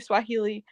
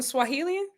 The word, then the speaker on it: Swahili: We'll see what you know how to count in Swahilian. I do. And wait, is that how you say it? Swahilian. Swahili. Kiswahili is how you say it in Swahili.